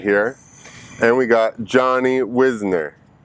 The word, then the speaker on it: Wisner: it's the moreno marina the correct pronunciation is wisner wisner or if you're from